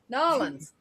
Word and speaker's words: New Orleans: Let's not get started on New Orleans. Oh God, yeah. Nolans. Them Nolans. people get downright vicious when you mispronounce their town.